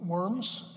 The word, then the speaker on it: Worms: We're not talking about a diet of worms, you know, eating worms. Worms was the name of a city, properly pronounced Worms in German.